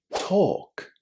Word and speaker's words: talk: And do you know the same happens with talk? It also contains a silent L and it's pronounced with a long O.